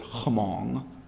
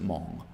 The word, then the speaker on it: Hmong: Hmong is spelled with an H, so some people pronounce it Hmong, but they just pronounce it Hmong.